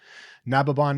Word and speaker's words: Nababan: Nababon is spelled Nababan, and